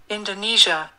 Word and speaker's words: Indonesia: 그 쥐어 하는 발음이 많이 어려워서요. 이제 따라 하시기 쉽지 않을 수 있는데요. 그래도 반복하시면서 연습하시면 되겠습니다. 네, 그러면 두번 한번 들어볼게요. Indonesia.